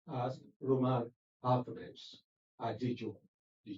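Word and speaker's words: Adejokun: My last name is spelled Adejoku. Adejoko. J-O-K. Ade, as in John, O-K-U-N. Pronounced as Roman alphabets. Adejoko.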